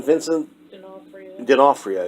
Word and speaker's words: Vincent D'Onofrio: Vincent D'Onofrio.